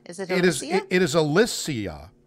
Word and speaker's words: Alicia: 30 years yeah apparently we've been saying her name wrong this entire time alicia is it is it is alissia not alicia so i've heard it both ways okay alicia